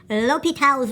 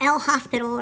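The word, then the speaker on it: L'Hôpital: to discuss something called lal's Rule not l hospital or hosital Lal it's French I believe and one of my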